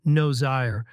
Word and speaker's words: Nozire: I think her last name is pronounced Nozire, but it sounded like nose hair when she said it.